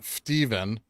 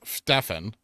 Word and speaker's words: Stefan: kicked it over well it's not pronounced Stephen because there's no V it's it's Stefan what percent is your